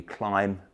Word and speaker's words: Klim: pronounce the brand name apparently it should be climb and not claim I have to say